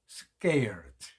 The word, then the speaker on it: scared: 그다음 세 번째 scared scared 해도 되지만 s 다음에 오는 C는 6에서는 끄발음이 난다고 했습니다. 그래서 scared scared 무서운 그죠?